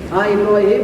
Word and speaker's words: Ibrahim: Kalau misalkan Ibrahimun salah ya, dibacanya Ibrahimun salah. Ya, salah. Makanya lihat di Al-Quran yang pernah ditanwin Ibrahim itu. Nama Ibrahim tidak boleh tidak pernah dibaca tanwin.